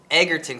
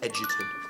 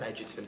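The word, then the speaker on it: Egerton: before I signed on my name is pronounced Edon Taran Edon but thank you for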